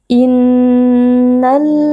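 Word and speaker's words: إنّ: Innal ladzina ajramu kanu minal ladzina amanu yadhhakun. Inna nun tasydid dibaca dengan berdengung.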